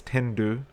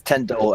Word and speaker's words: Tendo: Think Ah, Nintendo without the Nin, right?